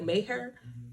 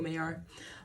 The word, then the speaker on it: Maher: I said, why I say his last name like that? Bill Maher? Maher? I usually say it like Bill Maher.